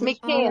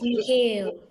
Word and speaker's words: Mikhail: Did I pronounce the name properly? I said Mikhail or It's Mikhail. It's Mikhail.